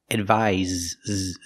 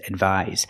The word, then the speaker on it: advise: pronunciation the first word with the S has the z sound like zebra advise advise and this is a